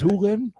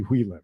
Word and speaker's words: Hui Lim: You know, her name is Hu Lim. It's actually Hui Lim.